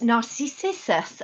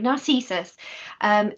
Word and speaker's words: Narcissus: Of course, this is this is Narcissus, and I'm never going to say it right, Narcissus.